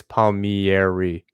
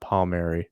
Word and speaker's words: Palmieri: if palmieri happens and it's palmieri not palmeri not for you just everybody else i see i hear everybody else not pronouncing it right um sorry the italian in me i just gotta i just gotta get it right um yeah you you